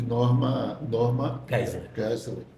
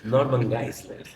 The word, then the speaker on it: Norman Geisler: Judas, aí vai bater com aquele pensamento de Norma Geisler. Eu gostei da sua pronúncia, Norma Geisler. Norman Geisler.